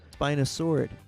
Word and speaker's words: spinosaurid: So, the reason why I bring it up, Spinosaurus aegyptiacus is not my favorite spinosaurid. Yeah, I know, spinosaurid or spinosaurid Spinosauridae Spinos- Spina- Spinosaurid.